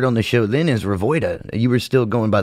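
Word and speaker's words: Revoyda: and you say Revoida, the next line is what? In other words, what did you say? Well, you got to spell it. It's spelled exactly the way it's pronounced. R-E-V-O-Y-D-A-D-A. Revoida.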